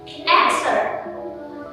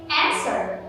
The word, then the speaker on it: answer: you plan like this answer not asked word but answer the letter w is silent so once again answer not answer but answer